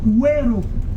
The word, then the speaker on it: Wero: Voilà, Wero. Wero. J'espère que tu prononces bien la Rosita.